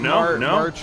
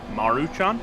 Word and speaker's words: Maruchan: impressive Not Top Ramen not Martin Ramen however you pronounce it no Maruchan Maruchan is that hey it's